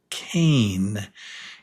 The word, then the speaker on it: cane: We don't pronounce the e, but the e the e changes this from a to A, cane, cane.